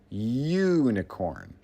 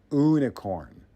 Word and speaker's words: unicorn: The word unicorn is pronounced unicorn with a Y sound, not unicorn.